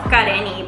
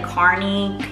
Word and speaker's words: Karenny: Well, it's pronounced Karenny, but everybody would call me like Carney, Karen.